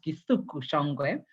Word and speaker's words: Githuku Shongwe: I learned today that it's pronounced Githuku Shongwe.